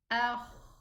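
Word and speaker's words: خ: Akh, akh.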